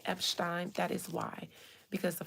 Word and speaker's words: Epstein: You know, that's a Jewish name. So they were very much particular with making sure I didn't say Epstein, but Epstein. So if you guys hear me say Epstein, that is why.